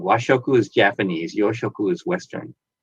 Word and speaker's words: washoku: i thought that i was saying it wrong washoku is japanese yoshoku is western cuisine in japan